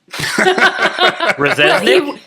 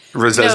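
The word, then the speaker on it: Rzeznik: I always thought it was Ooh, I shouldn't say Resnick. that. Rezesnik. No. It's spelled that way. Yeah. No. The first Z is silent, Resnick.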